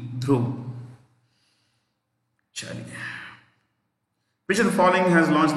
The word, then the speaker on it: Dhruv: helicopter named dhruv d h r u v drove which the following has launched the ammo body